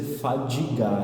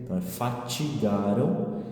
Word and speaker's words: fatigaram: importantes não se fatigaram cuidado porque a gente corre o risco de na pronúncia e dizer fadigar ela não é fadiga é fatigaram e depois a expressão